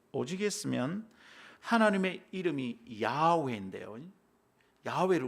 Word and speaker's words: 야훼: 했으면 하나님의 이름이 야오회인데요 야훼를 우리 지금 여호와라고 부르잖아요이 잘못된 거예요 야외인데이 야훼라는 발음을 잃어버릴